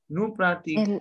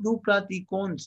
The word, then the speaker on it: nous pratiquons: Nous pratiquons. Elle pratique. Nous pratiquons. Vous pratiquez. Vous pratiquez. Elle pratique. It is not nous pratiquons. No. S would not get pronounced.